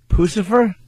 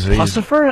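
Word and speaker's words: Puscifer: Instead of Lucifer, they put a P instead of the L. Pucifer?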